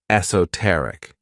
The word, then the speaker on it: esoteric: favorite adjectives is esoteric this word has four syllables and the stress is on that third syllable esoteric when we describe something